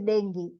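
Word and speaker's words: dengue: now the spelling is denu but it is pronounced as Deni it is a Swahili word and it means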